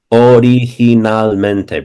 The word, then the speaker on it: originalmente: If a word is ever long, break it into syllables, and it seems originalmente.